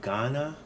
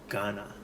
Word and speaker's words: Ghana: So as in the name Ghana, we spell it GHA. The GH actually is the ga character, ga. So Ghana.